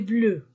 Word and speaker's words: bleue: la règle est bleu même prononciation mais j'ajoute e à la fin féminin singulier la règle est bleue écrivez les adjectifs pluriels